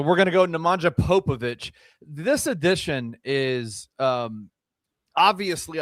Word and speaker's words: Popović: Not exactly 100% sure on that, but I'm I'm very confident that it's Popovich.